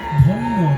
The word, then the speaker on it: ধন্য: আর আমি যেটা বলছি ধ দন্তের নয় হস্যি, এই ধনী মানে হচ্ছে ধন্য ধন্য। ধন্য শব্দটাকে হিন্দির মতন একটু ভেঙে উচ্চারণ করুন।